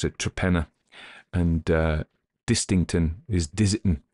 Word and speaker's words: Torpenhow: a place called it's written torpenhow but you pronounce it traena and uh distington is disi so you know